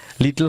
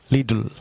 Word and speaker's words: little: Viewers লক্ষ্য করুন, LITTLE, এটি ব্রিটিশ উচ্চারণ হচ্ছে লিটল। আপনি যদি এটিকে আমেরিকান ইংলিশে উচ্চারণ করতে চান, তাহলে হচ্ছে লিডল।